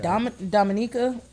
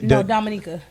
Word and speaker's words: Dominica: I think Dominica Islands originally. Dominica.